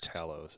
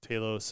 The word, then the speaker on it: Talos: have uh saurin and is it ta Taos you said is how you pronounce it Taos you want to say TS or something but um